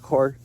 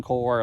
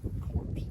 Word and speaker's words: Corps: as it is in Corps, like Marine Corps, but same one. Same. We okay. had an excuse for a president who pronounced it corpse.